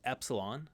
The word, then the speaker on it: epsilon: be long or short the short e sound is Epsilon the long e sound